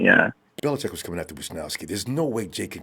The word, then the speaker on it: Wishnowsky: Yeah, Wishnowsky.